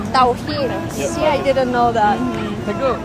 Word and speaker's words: Tawhid: Tawhid. Tawhid.